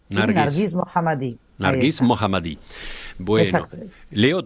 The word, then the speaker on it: Narges Mohammadi: voz del pueblo iraní Cuál es la pronunciación correcta del nombre y del apellido Yo creo que es nargis mohamad Sí nargis mohamad nargis mohamad bueno Leo